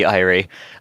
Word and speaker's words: Irie: It would be Irie. Think of Irene, but without the last part.